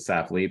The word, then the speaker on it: Saffle: So I'm Saffle, even and everybody pronounces it Saffle because that's how it's spelled.